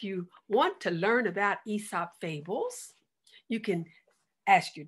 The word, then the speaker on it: Aesop: esa he with the a a-e-s-o-p but it's pronounced esop fables so this song i wrote is going